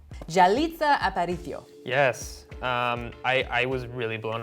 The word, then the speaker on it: Yalitza Aparicio: I'm going to pronounce her name now. Yalitza Aparicio. Yalitza Aparicio.